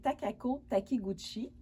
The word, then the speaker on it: Takako Takiguchi: je m'excuse, j'espère que je vais bien le prononcer, c'est Takako Takiguchi.